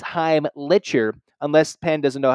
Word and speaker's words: Heimlicher: from Penn Jake heimlicher looks like it says lick but it's Heim litcher unless Penn doesn't know